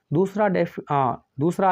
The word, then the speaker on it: the: दूसरा आर्टिकल होता है डेफिनेट, जिसके अंतर्गत आप टी एच ई को रखते हैं। अब टी एच ई जो है, इसके दो प्रोनाउंसिएशन होते हैं, एक होता है द और दूसरा होता है दी।